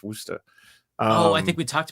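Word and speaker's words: Worcester: sir wer yeah well it looks like it's pronounced Worchester Worchester but it's it's wer oh I think we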